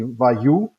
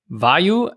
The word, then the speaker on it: Vayu: Everybody is pronouncing it a little bit different. I heard also Vayu. So from the English name, Vayu, like a person questioning. So there are different ways.